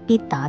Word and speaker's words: 畢打: location on Pedder Street The original name was 'Bit Da' Street pronunced in Cantonese It was named after